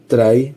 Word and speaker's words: trie: Try pronounced try is a treel like data structure that can compactly store strings.